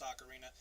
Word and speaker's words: Ocarina: Oh, and just an FYI, I know it's pronounced Ocarina.